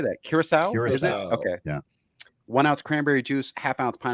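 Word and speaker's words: Curaçao: do you even how do you say that Curacao okay yeah one ounce cranberry juice half ounce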